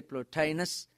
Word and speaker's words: Plotinus: in the works of plot eNOS as we can be pronounced here plotinus and fellow Augustine gave